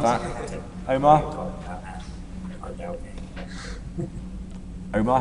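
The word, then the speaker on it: Ardougne: In fact, I think we should probably give you some scores on the board for that actually because you actually pronounce it correctly. Is Ardo.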